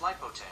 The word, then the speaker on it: Lipote: That's pronounced Lipote.